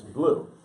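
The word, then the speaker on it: Bleu: He's in Holiday Inn, and he's in High School Musical, and it's Blue, not I have Blue. I have real problems. Corbin Blue. She's European. Blue. It's spelled like it's Anyway, he's our new vlogger,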